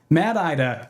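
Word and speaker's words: MADDIDA: Mad Mad IDA. Oh yeah, here here it is. rhymes with MAD space IDA like the name is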